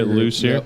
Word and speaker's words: Lucier: we're here with the lucer group yes how do you say it lucer lucer yes you say Luci here all right juli Manan